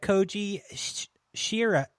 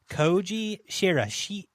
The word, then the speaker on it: Koji Shiraishi: It's Japanese, directed by Koji Shira. Oh, God damn it. Koji Shiraishi.